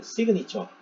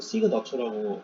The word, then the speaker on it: 시그너처: 같은 경우에도 LG전자의 저희가 시그니처, 또는 시그너처라고 영어 표현은 시그너처인데 한글 표현으로 시그니처라고 되어 있는데요. 영어로 보통 이제 외국 분들 발음하실 때는 시그너처 이렇게 합니다.